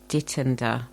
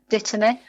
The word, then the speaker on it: dittany: a herb, and I don't know how to pronounce it. I've been calling it Dittender, but I don't know if that's correct. Dittany.